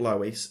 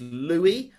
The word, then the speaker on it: Louis: It's not Lois. It's not Louis. It's Louis.